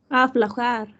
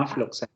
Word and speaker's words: aflojar: aflo- aflojar. Aflojar, sí, no afloxar, aflojar.